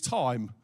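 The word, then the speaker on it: τιμή: now there's a Greek word that actually is time or Timo but it's pronounced Tim e um timau someone who speaks Greek thank you for that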